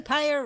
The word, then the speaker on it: Pyre: Lady Pyre rhymes with fire.